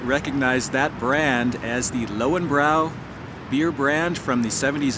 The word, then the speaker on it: Löwenbräu: That was an Americanized version of this long-standing German beer mark, they would call it, and pronounced a little bit differently as Löwenbräu or Lion's Brew.